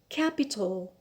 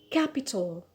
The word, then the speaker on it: capital: it is on elect capital capital so the stress here is on the first syllable on ca carnation carnation so here